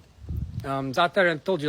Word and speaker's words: za'atar: Say za'atar. Now, za'atar, you can say za'atar. Z-A. But there's a letter in Arabic called za'atar. It's hard to pronounce.